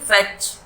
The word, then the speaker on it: fetch: और यहाँ फेच, यहाँ पे भी टी साइलेंट है, फेच नहीं बोलेंगे, सिर्फ फेच।